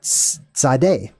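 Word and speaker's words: tsade: meant side which is kind of how the letter is pronounced Sade Sade or t z a d e mint side essentially or it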